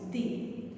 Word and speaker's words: the: we have to use the. Okay, not only that one, how to pronounce. It is, the spelling is same, but we have to pronounce it as the.